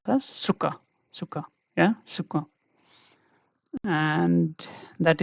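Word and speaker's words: Zucker: And another example that you will use every day is like suga in English, but here it is pronounced as suka, suka.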